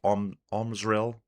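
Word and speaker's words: Omrzel: Omril. An R and a Z put together. Smash those two together. Make it happen.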